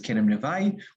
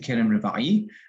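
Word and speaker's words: כרם רבעי: Others pronounce it as Kerem Revai. We pronounce it Kerem Revai.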